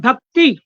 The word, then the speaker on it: भक्ति: जी कृपया ध्यान रखें आपने भक्ति भक्ति छोटी ई है इसमें छोटी ई है